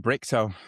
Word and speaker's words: Brichto: Brichto. I've been looking forward to speaking to you. I got the pronunciation right as well, which made me think of Bricktop when you sent it through.